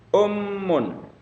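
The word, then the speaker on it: أُمٌّ: Ummun. Ummun. Ummun. Nah, ummun artinya ibu ya, ada tasdidnya jadi penekanan. Ummun.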